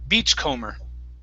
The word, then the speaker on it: beachcomber: word is comer okay the b is silent beachcomber beachcomber okay one more